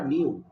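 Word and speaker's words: knew: নো মানে হচ্ছে জানা এর কে এন ইডব উচ্চারণটা নিউ মানে জেনেছিল আর পিপিতে হচ্ছে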